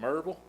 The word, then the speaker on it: Maryville: And in East Tennessee, we pronounce that Maryville.